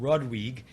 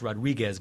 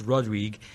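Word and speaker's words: Rodrigues: I also flew to a a smaller island of of Mauritius called Rodrig. It looks like it's pronounced Rodriguez, but it's Rodrig.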